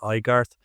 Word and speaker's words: Aigarth: Yeah, I just recently realized I should be pronounced Igart, but um, come from Beyond said, "Ask her in three days by X."